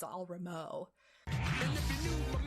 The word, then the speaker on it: Ramo: Isn't it Ramon? No, it's just Ramo.